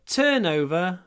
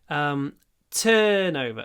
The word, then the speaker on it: turnover: Our turnover fell last year. Turnover. The stress is on the first part.